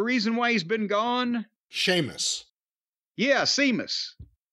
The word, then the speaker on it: Sheamus: music interrupts and it's Seamus Seamus is back Sheamus what was his injury or heartache the reason why he's been gone Sheamus yeah Seamus Sheamus s e a m u s s h